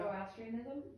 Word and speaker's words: Zoroastrianism: Zoroastrianism? Thank you. Zoroastrianism, which was a monotheistic pre-Islamic religion from ancient Persia dated in 6th century BC.